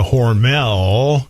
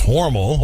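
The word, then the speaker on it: Hormel: worked the grandfather worked at horal or as we call it outside of aus Minnesota horel as we all mispronounce it it's horal over to horal Y um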